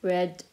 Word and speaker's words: read: read bin espalier is it's written the same but pronounced differently so antacid so read red red buy bought and